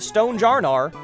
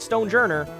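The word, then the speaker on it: Stonjourner: a stone jar, which fun fact, it is pronounced stone jarnar. That was officially confirmed. It is not stone jourer.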